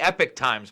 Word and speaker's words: Epoch Times: If you they call themselves the Epic Times, by the way. Oh, is that what it's actually pronounced?